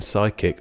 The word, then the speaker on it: psychic: silent O in kernel, a silent P in psychic, a silent Q in